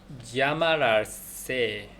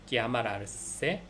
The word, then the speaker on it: llamarse: LLAMARSE 이건데 LL을 쓰게 되면은 야인데 그 앞에 좀 격하게 해가지고 지읒이 앞에 살짝 들어갔다는 느낌으로 하라고 이제 그 공부한 거에 그 책에 이렇게 써 있었던 것 같은데 발음이 쉽지가 않겠죠. 우리가 하는 발음이 아니다 보니까, 평상시에 쓰는 발음이 아니다 보니까. 그래서 야마르세인데 그 앞에 지 살짝 들어간 것 같다.